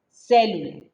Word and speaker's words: célula: Ahora hablamos de célula. ¿Sale? Con acento en la E.